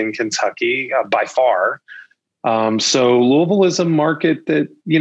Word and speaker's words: Louisville: So it's actually Louisville. So like, well, I said it wrong even trying to say it right. So it's L-U-H-L, Vol, V-U-H-L, Louisville. Ville.